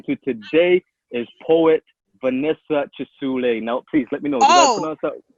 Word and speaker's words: Kisuule: wrong no no you you said it how people in uganda would say it right but i learned